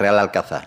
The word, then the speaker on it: Real Alcázar: hispana árabe y ahora Cuál es su pronunciación correcta real alcanza o reales alcázares real alcázar la pronunciación correcta es real alcanzar no quita que más